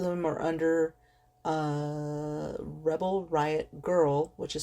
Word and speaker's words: Grrl: I have them all, and most of them are under Rebel Riot Girl, which is spelled GRRL.